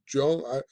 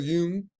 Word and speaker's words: Jung: And it's coined by this guy, however you say his name, Carl Jung, or Jung. It's not Jung, I guess, but Carl Jung.